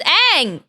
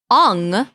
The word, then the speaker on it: Aang: Hey, look, it's Aang, or as the Americans say, Ong.